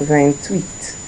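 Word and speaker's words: vingt-huit: So next we have Van Tweet. Van sorry wait. Yeah because like the H is there so there be a laser. So then tweet rather than tweet then tweet then tweet sorry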